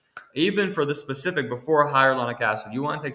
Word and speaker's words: hyaluronic: Hyaluronic acid and quercetin kind of work together, right?